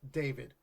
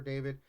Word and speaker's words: D4VD: Rapper, I'm assuming it's just David. Like it's spelled Yeah. D4VD. Whatever.